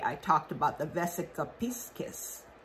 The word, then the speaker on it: Piscis: Anyway, back to Vesica Pisces, or Piscis is how it's pronounced.